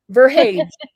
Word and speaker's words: Verhage: Verhage. Verhage. Is it a hard G or a soft G?